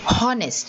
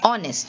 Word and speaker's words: honest: honest you don't say honest you say honest you start with the sound of the o so the h is silent again you will see